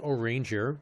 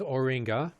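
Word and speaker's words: Urianger: never say his name i think his name is like french which is why he's kind of spelled weird and pronounced differently um oh orangey well it's not pronounced or ranger they pronounce it differently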